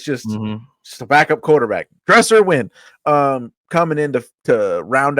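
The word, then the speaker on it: Dresser Winn: his name was wi dresser his name is dresser win that's just a quarterback a backup quarterback name right there dresser win Cleo like like Cleo lemon that's that's just just a backup quarterback dresser win um coming in to round out that room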